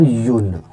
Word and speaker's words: un: So one is or yun, right? Which means one in French, and इसको pronounce करेंगे हम or yun, something like this, right?